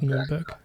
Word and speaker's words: Nuremberg: Yes, Bamberg and Nuremberg.